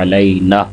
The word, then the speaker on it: علینا: وبرکاتہ۔ آگے السلام علینا، اکثر احباب نون کے ساتھ الف مدہ کو چھوڑ دیتے ہیں، علینا، تو صحیح تلفظ کیا ہوگا، علینا۔ آگے وعلی، وعلی، لام